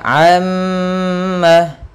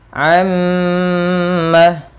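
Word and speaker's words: عَمَّ: tasdid atau Nun tasdid cara membacanya yaitu menahan suara mimnya sepanjang dua harakat maka ammah ammaah atau contoh lain Misalnya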